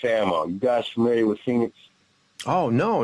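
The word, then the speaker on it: Fenix: know uh phoenix ammo you guys familiar with phoenix oh no not no and it's spelled f-e-n-i-x ammo okay a big supporter of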